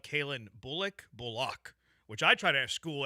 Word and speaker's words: Bullock: It's not Al-Shire, and it's not Bullock. Yeah. It's Shire, and it's Bullock.